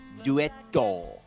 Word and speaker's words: Duetto: is that they actually write Net Duetto.